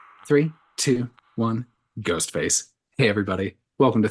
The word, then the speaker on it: ghost face: Three, two, one, ghost face. Hey, everybody. Welcome to 3, 2, 1 Ghost. As always, I'm your host face with a silent G, Kyle, and we're talking about a solo ghost face situation here today.